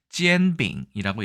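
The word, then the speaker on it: 煎饼: 비슷하다고 말씀드렸는데 한번 볼까요 중국에서는 지엔빙이라고 얘기합니다 젠빙 젠이라는 표현이니까 이게 제이나 예 젠 혹은 젠 m 정도로 예 발음될 수도 있을 가능성이 있겠습니다 어쨌든네 잼이라고 하고요 병자가 좀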